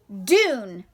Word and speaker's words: dune: Dune. Spell it.